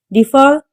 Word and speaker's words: deferred: Deferred. The stress is on second syllable.